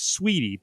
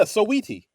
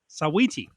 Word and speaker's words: Saweetie: I thought it was Sweetie, but it's Sawy. Is that right? Yeah. Sawiti. Sawiti.